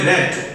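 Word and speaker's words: read: নিয়ম অনুসারে বিং হয়েছে, রিড এর পাস্ট পার্টিসিপল হবে রেড, বানান একই থাকবে বাট উচ্চারণটা হবে রেড, অতিরিক্ত অংশ আছে দেন প্লাস বাই, তারপর হচ্ছে ফাদার যা ছিল তাই।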